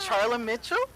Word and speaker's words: Charla Mitchell: studio this morning are you nervous you have Charlie Mitchell am I saying it right you are yeah